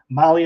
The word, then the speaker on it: Mahle: And for our podcast listeners, Molly is spelled Mahle.